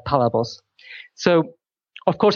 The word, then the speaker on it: Palabos: I pronounce it Palabos. Palabos. So with the emphasis on the first part of the word.